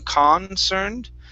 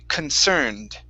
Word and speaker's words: concerned: Now, the C-O-N at the very beginning is not receiving the stress. So instead of saying concerned, okay, we're going to pronounce it kun. Okay, and we say concerned.